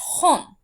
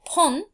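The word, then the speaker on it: 本: And this kanji is pronounced hon, or pon, or bon, depending on what number goes before it.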